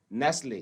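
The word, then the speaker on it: Nestlé: तो अब हमने जो है सपोज एक वर्ड लिखा NESTLE, तो उसको हम बोलते हैं नेस्ले। तो नेस्ले में भी क्या है, T साइलेंट है, नेस्ले, ये कंपनी का नाम भी है नेस्ले।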